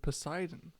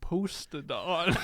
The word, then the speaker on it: Poseidon: I can't laugh because when I was reading the Percy Jackson books, I saw the word Poseidon. Pedodon and I said postadon.